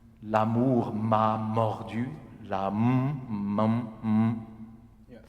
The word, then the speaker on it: mordu: De sa danse soudaine et vorace, comme un chien, l'amour m'a mordu. Okay? But don't make an accent on the D, though.